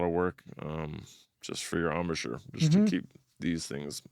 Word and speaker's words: embouchure: Yeah, how's that armature feeling all these years later? Embouchure. Embouchure. I always say it wrong.